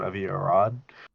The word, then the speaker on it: Avi Arad: Avi Arad.